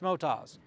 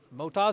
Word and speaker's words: Motoz: and how do you say the name it's Motas moto tires from Australia Motas is the name I'm car brel thank you